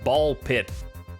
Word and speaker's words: BALL x PIT: Playing ball pit. The X is silent.